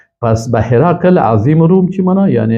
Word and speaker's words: هرقل: متخصص است مشکل نیست ولی اصل درستش اگر کس خواسته باشه هرقل است پس به هرقل عظیم روم چی معنا